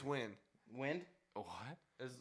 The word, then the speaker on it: Nguyen: name is- It's Dong Nguyen. That's Win. That's And- pronounced Win. It's Win. Dong Win. Dong Win. Yeah. Okay, I guess Downwind? NG together is a W. It is Dong Win.